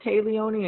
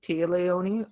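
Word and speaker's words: Téa Leoni: I think it takes I've heard Talia knee and Keith Tia Leone um I feel like the proper one is Tia Leone I think I think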